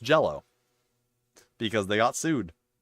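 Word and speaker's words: Green Jelly: bit uh yeah uh green jello. Yes. Green green jello spelled J E L L Y but still pronounced jello because they got sued.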